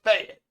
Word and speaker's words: Fayette: It's Fayette.